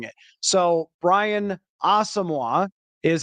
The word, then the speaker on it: Asamoah: round pick from 2022 was known as Brian asamoa but Brian himself asked the public relations to pass along that his name is pronounced asamoah and I don't know